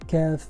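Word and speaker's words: كاف: The English counterpart of Kaf is Ka.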